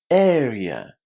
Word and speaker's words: area: But the way you pronounce this word is you basically combine the word air with e air. And the word yeah as in yeah, I really like it. Area area.